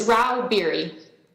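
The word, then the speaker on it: Rauh-Bieri: yes chairman I'm here how do you say your name ma'am it's Ral beer thank you uh Miss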